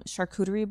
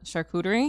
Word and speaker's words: charcuterie: photography um videography partners I have um some charcuterie board partners with the I just learned how to say that word today by the way charcuterie yeah why because yeah because of me yeah